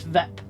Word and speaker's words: VIP: He pronounces the acronym as a word rhyming with zip, so he says VIP. Yeah, what's VIP?